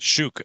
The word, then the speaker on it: Such: We're pronouncing that Shook, apparently. So thank you for the pronunciation update.